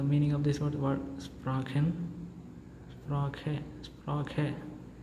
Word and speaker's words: Sprache: And the correct pronunciation will be sprache, because the words ending with letter E gives the sound of A, right?